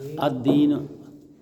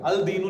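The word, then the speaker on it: الدين: लाम साइलेंट क्यों देखें यहां पे लाम नहीं पढ़ा गया अलदीन नहीं कहा मैंने अदन जी और यहां पे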